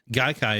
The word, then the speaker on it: Gaikai: That's really interesting, because I remember when I first heard about it, Gaikai is how it's pronounced, right?